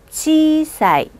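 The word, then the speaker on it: ちいさい: 지이 지이사이 이렇게 읽는 게 아니라 한 번에 읽으셔야죠. 읽어볼까요? 지사이 지사이.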